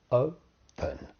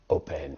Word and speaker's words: open: does this mean so the verb open two syllables open but it's not it's not open it's open so that the stress is on the first syllable okay right so then